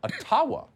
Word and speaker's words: Ottawa: let the mayor of ottawa or atawa as it's correctly pronounced ojibwa explain why peaceful truck